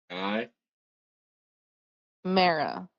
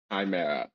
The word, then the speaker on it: Chimera: Chi Mara. Chimera. The goblin mispronounce it.